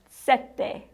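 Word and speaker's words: sete: The next one set with one t. Remember from the numbers video, there were two T's in the number seven. Set. You rest slightly longer on those T's. Set. It's a slight difference.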